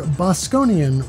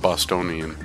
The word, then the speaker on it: Bosconian: overhead free roaming shooter bosconian released on Arcade archives a August 24th I have a hard time pronouncing this because I keep want to call it Bostonian have to dump the